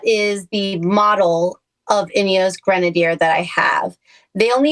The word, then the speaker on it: Grenadier: Pronounce pronunciate for me, please. So, it is an Inos Grenadier. Grenadier. Yes, a Grenadier.